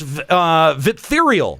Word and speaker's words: Viptherial: Yes, Viptherial. Viptherial, sorry. Yes, Viptherial, classic Vip. It rhymes with diphtheria.